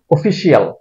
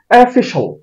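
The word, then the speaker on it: official: এটাকে আমরা উচ্চারণ করি অফিশিয়াল এটার শুদ্ধ উচ্চারণ হবে এফিশাল এফিশাল এফিশাল এটাকে আমরা উচ্চারণ করি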